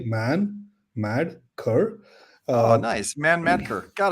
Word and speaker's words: Manmadkar: man mad C so I have nine characters in my last name I split them into three becomes easy man mad C uh nice man Mater